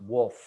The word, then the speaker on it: Wolff: So actually my name is pronounced Wolff.